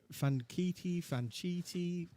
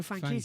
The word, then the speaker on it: Franchitti: Fanchiti. Yeah, it's Dario Franchitti, isn't it? Franchitti.